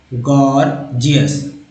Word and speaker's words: gorgeous: पहला जी ग, दूसरा जी जो है ज के रूप में इस्तेमाल हुआ, गॉर्जियस। दोस्तों ये गॉर्जियस वर्ड जो है, इसमें आपने देखा कि जी जो है ग भी उच्चारण हो रहा है, ज भी उच्चारण हो रहा है।